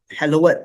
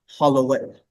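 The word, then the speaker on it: hallowed: Uh hello-ed, not hollow-ed, for example.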